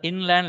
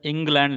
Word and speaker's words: inland: If you see long back, so there was an inland letter, of course, that is not England letter. People used to pronounce it as England letter.